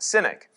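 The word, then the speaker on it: Sinach: If I'm pronouncing her name right, I think her name is pronounced Cynic.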